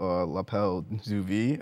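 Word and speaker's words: L'appel du vide: a very unique name lapel duvi is that how you say it correctly uh it's Lael in French it literally means the call of the Void uh I chose that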